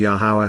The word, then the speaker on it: Yahowah: Shabuah because he loved Yahweh and his people. Respect and revere, appreciate the astonishing awesomeness of Yahweh, the proper pronunciation of the name of Eloah, God as directed in